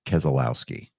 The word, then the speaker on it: Keselowski: It's pronounced Keselowski.